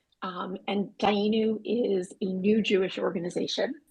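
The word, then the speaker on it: Dayenu: It's pronounced Dayanu, and Dayanu is a new Jewish organization.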